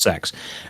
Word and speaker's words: CeX: shops in the UK we have a shop called CeX which is pronounced sex and every single time